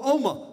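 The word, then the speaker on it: Omagh: my god Northern Ireland exactly how do you pronounce that oh oh ma excuse me let's leave God out of it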